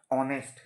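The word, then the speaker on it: honest: এইচ একটা consonant একটা consonant থাকা সত্ত্বেও তার উচ্চারণ হচ্ছে ভাওয়েলের মতো হনেস্ট না হয়ে অনেস্ট তাহলে কনসোনেন্ট থাকলে নরমালি তার আগে কি বসার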